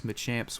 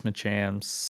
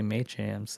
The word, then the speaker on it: Machamps: we've seen the memphis machamps i keep wanting to say may champs and that is not how you say it but i mean we've